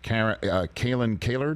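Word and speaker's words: Kalyn Kahler: reporting from you and your two other colleagues, Kalen Kaler, did I pronounce it correctly?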